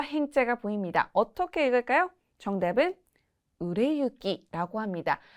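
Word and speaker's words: 売れ行き: 보통 이쿠라고 읽는 경우에는 정말 이렇게 걸어가거나 어딘가에 가거나 이런 식으로 가다의 의미로 쓰일 때는 이키라고 읽는 경우가 많고요. 추상적인 표현으로 미래를 향해서 나아가다 라고 하거나 진행된다라고 할 때는 유라고 읽는 경우가 많습니다. 약간의 팁이랄까요?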